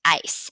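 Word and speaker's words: áis: a acento is and that is pronounced ice so you drop the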